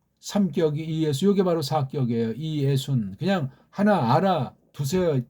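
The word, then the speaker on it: Ἰησοῦν: 사격은 이에순. 그렇게 발음하셔야 돼. 왜? 모음이 연속하면 이중모음이라고 해놓지 않은 다음에 따로따로 구별해서 발음을 해야 되기 때문에 그렇습니다.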